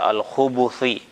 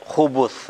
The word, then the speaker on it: الخبث: wal ba', dengan di dhamma kha dan ba-nya, berarti dibaca al-khubuthi.